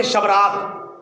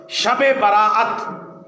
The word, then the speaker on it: شب براءت: کی رحمت کی رات۔ عام طور پہ ہم اس کو پڑھتے ہیں شب رات، تو شب رات تلفظ غلط ہے۔ شب کا معنی بھی رات اور رات کا معنی بھی رات، تو شب رات کا معنی بنا رات رات، تو کوئی مطلب نہیں بنا۔ شب براءت، ویسے احادیث